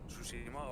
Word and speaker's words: Tsushima: Tsushima, okay.